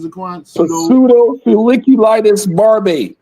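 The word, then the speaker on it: pseudofolliculitis barbae: Pseudo feliculitis barb. Yeah. Pseudo not pseudo pseudo. The p is kind of kind of silent.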